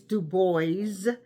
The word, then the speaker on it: Du Bois: web the boys and by the way it's the boys that's how it's pronounced we know that baah is a French word for wood but he's not du he's the boys at the Paris Expos Exposition now I did